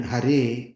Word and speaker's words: Hare: The E, Re, He, E in Hare is pronounced like in red, but longer, not E-I, E-E, like in day, as it is sometimes heard.